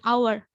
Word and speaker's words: hour: words in english where it's possible to drop the h and we don't furnace it word likes honest honor air and hour there are number of